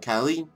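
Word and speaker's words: Caen: Europe rayon L and khen Ken it's khen is how you pronounce it but sometimes it's different ways and without me in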